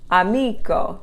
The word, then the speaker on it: amico: Amico, the accent's on the next to the last syllable, is a rule breaker.